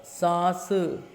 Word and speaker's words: सांस: आस सास, से आस सांस। अब देखो इन दोनों के उच्चारण में कितना अंतर है? सास, सांस। तो इसकी आवाज़ अंदर से आती है, मुख और नाक दोनों से ध्वनि निकल रही है।